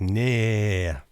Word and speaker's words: nee: like they write no, it's spelled N-E-E, so it looks like nee. But I realized that double vowels means it's a diphthong, so you go nee.